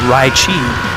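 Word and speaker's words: ライチ: japanese name for the leichi fruit which is pronounced uh raichi in japanese so it's kind of you flip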